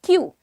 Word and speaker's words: queue: सो क्यू इज the pronunciation.